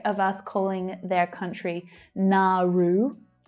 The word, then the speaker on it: Nauru: Nauru. 3 syllables here, and the second one is stressed. Nauru.